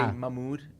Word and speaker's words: Mahmoud: I skip the H, but it's Mahmoud. Mahmoud. Yeah. You actually do pretty good. Say it again. Mahmoud. It's not actually not bad. No, me personally, I couldn't pronounce my own name till I was 8, 9. Wow. Yeah. Because I was born here, and I wasn't speaking Arabic. So it's ah. It's the ha.